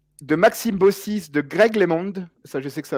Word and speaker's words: LeMond: sûr qu'en corée ziigmund non lemon c'est comme ça qu'on prononcer mais j'ai compris comment